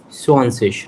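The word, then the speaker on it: zwanzig: Swanfish. Repeat. Swansea. Swanfish. Swansea. Yeah. This IG Okay. as ish we have to pronounce, Ish. and Z as S.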